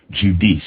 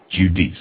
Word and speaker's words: Judice: Context of White Supremacy, our guest, Northwestern University, Professor Cheryl Judice. Am I pronouncing your name correctly? Yes, you are. Judice.